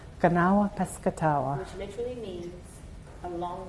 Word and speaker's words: Kanawha Piscataway: Kanawha Piscataway. Kanawha Piscataway.